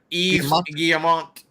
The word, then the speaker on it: Guillemot: Guillemot. Y-V-E-S Guillemot. Yeah, Guillemot.